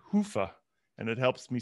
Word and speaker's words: Hyva: had seven different pronunciations i understand it's a finnish word hoofah and yeah the way i do it is i clinch my i clinch my butt cheeks and i say hoofah and it helps me